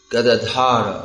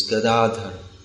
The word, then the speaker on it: Gadadhara: Just like mostly our devotees say Gadadhara, although the actual name is Gadadhara. Yeah, it's Gadadhara.